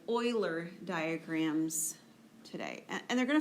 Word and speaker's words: Euler: section 3.5 uh it's titled analyzing arguments with euler diagrams that is how you pronounce that name it's a mathematician named euler